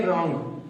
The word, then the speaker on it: wrong: जैसे कि हमारा पहला रूल है कि अगर W के बाद तुरंत R आ जाए तो उस वर्ड को पढ़ते समय में हम स्टार्टिंग का जो W होता है उसका उच्चारण या प्रोनाउंस जो होता है नहीं करते हैं। उसमें हम सीधे कैसे, जैसे कि एग्जांपल ले लेते हैं रॉन्ग, WRONG, इसमें क्या आ जा रहा